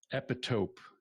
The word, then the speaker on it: epitope: One point of note for you, the word epitope is how it's pronounced.